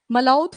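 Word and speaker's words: Malaudh: एक आपका फोर्ट है मलात फोर्ट प्रोनंसिएशन यही है मलो ठीक है स्पेलिंग मलो ठीक है मलो तो इट इज लोकेटेड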